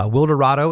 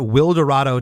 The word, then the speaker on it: Wilderado: give a little backstory to the listeners uh wi Dorado is a rock band from Tulsa Oklahoma named after will dado Texas but will Dorado uh for Texas is